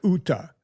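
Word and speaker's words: Jutta: Yeah, Jake Paul dates Juta, but her name, they pronounced it Uta. The J is Uta.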